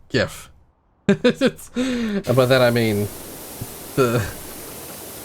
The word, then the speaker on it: GIF: that exactly comes from that's why you can't have the the picture format gif being pronounced jiff there's already something called jeff i don't know why